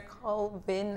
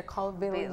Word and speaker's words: Colville: to say his name, because most Belizean we call him Sir Colvin or Calvin, and it's Sir Colville Young.